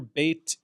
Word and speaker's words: bet: Uh, the letter bait, if it has a daggersh or a dot inside it, it makes the B sound as in boy.